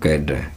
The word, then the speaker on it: cadre: कैड, डी के लिए डे, डी के लिए सिंबल होता है डे, और RE को प्रोनाउंस नहीं किया जाता, ए की साउंड आएगी, और ए के लिए उल्टी ए, तो ये बन जाएगा कैडर।